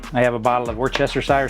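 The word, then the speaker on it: Worcestershire: The very first thing we do is we I have a bottle of Worchester sire sauce. That's how you say it.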